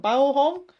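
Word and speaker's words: Baohong: I would pronounce that, no, like a bao bun, like bao hong.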